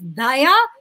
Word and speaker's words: Dhaya: So the actual pronunciation is Dhaya with an aspirated D, which does not exist in Tamil.